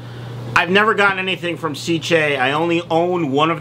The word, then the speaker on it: Sicce: which i really like now i've learned how to say it it's cj cc that's how you say it uh but this is